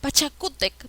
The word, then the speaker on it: Pachacútec: a porque es grave y termina en ere pachacútec porque lleva tilde en la copa porque es grave y